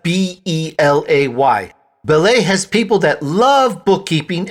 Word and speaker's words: Belay: on your business you get the difference right ballet is the incredible organization revolutionizing productivity with their virtual assistant bookkeeping and social media strategist services for churches non-profits and businesses alike that's spelled b-e-l-a-y ballet has people that love bookkeeping and can make